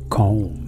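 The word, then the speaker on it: comb: مكوات ايرير مكوات ك انتبهوا لهذه الكلمه لا ننطق فيها حرف بي في الاخير كوم كوم كوم كوم كوم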